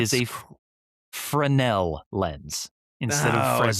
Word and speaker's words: Fresnel: It's fancy cuz it's French. No way. Is that true? Frenel. That's It is a Frenel lens instead of Frenel.